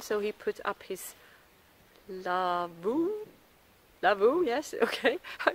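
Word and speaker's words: lavvu: But Kevin, he's been so kind, so he put up his lavoo, yes, okay, I pronounced it right.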